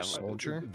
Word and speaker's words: solder: man's sold us yeah Soldier the L you're not supposed to pronounce but but it is there how many silent L's